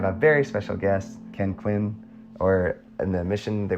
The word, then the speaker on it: Quinn: sure yeah so yeah they called me Elder Quin actually they pronounced my name Elder Queen and so sometimes because